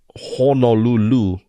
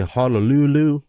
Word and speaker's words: Honolulu: Okay, so yeah, it's not Honolulu, right? And it's I'm not saying that's how you said it, but some people say Honolulu. So in Hawaiian, they'll say Honolulu, but there are some kingdoms that would say Honolulu.